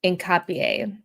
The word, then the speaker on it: Hincapie: The H is silent. Hincapie.